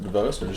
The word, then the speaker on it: DeVos: my teacher Argentina special does that how you pronounce it DeVos that's how people say yes here's a clip